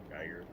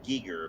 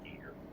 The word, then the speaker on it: Giger: Geiger. Now they say it's Giger, but it's spelled like Geiger. Giger. Hmm. I should say, according to himself, it's pronounced Giger.